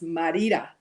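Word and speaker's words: Mérida: i'm going to um merida i'm going to say it the english way but it's marita mexico and but it's spelled morita it does not get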